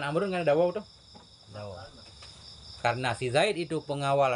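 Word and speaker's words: داود: Daud. Bacanya panjang, mestinya di depan waw itu ada waw satu lagi. Daud.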